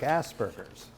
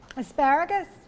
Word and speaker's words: Asperger's: she has something like asperger's asparagus no victoria aspergers not asparagus it's spelled a-s-p-e-r it's